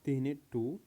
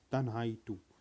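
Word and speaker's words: Tianhe-2: तो student first one हमारा है, वैसे तो इसको बोलते हैं तीने टू, लेकिन तन्हाई बहुत से वर्ड इसको प्रोनाउंसिएट करते हैं, बहुत से स्टूडेंट इसको प्रोनाउंसिएट करते हैं तन्हाई टू। तन्हाई नहीं है, तीने टू बोला जाता है, तीने सेकेंड।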